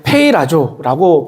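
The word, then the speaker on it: πειράζω: 되는데 오늘 본문에이 시험이라고 하는이 단어는 헬라어로 우리 페이라조라고 발음을 합니다이 시험이라고 하는 단어가 성경에서 약 세 가지의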